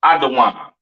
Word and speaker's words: Edom: Edom, Idawam, the devil that the Bible speaks of, your oppressor, the so-called Caucasian man, woman, and child, pronounced Idawam.